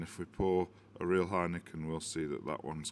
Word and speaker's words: Heineken: Heineken. You do say Heineken? Yes, Heineken. Because I wondered whether you pronounce the N at the end or not.